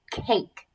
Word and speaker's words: cake: Now, listen to that A sound. I hear k-a. Now, remember, we have our magic E, so it's silent, okay? Now, this would not be a short A sound because it says its name, so that would be a long A sound, okay?